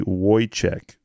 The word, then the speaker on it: Wojciech: Apparently, it's pronounced phonetically Wojciech.